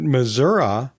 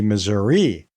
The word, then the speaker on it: Missouri: the old patent Farm my understanding is that Missoura was the original pronunciation and that as waves of easterners came in to settle in St Louis they looked at the spelling and thought well wait a minute the correct pronunciation should be Missouri but Grant Grandpa and his family knew that Missoura was correct and so they stuck